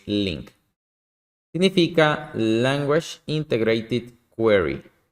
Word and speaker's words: LINQ: ¿Qué es link y cómo funciona? También es conocido como LINQ, pero realmente la pronunciación es link.